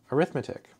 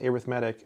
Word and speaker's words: arithmetic: think isn't that word arithmetic no it's actually pronounced arithmetic and I believe that's because it's an adjective so in this particular